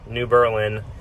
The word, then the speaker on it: New Berlin: truck stop here by New Berlin Illinois or New Berlin as the locals say and got my fantastic